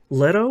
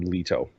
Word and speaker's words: Leto: Leto I it depends I call him Leto okay we haven't we haven't watched the movie yet I haven't watched the movie yet so not I'm I'm not up on the movie's pronunciation um yes I think the movie calls him letto I think the audio book calls him Leto which is just like okay